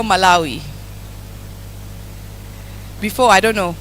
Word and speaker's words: Malawi: So, we're going to spell Malawi. Before, I don't know. Growing up, I thought it was Walawi, but then I realized it's Malawi, but we're going to try spell Malawi.